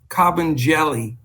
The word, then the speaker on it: Kabengele: But it's Mfondu Kabengele is the way it's pronounced, and or pretty close to that.